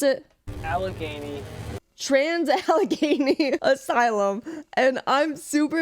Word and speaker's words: Allegheny: Project Fear released a new video at, how do you pronounce it? Allegheny.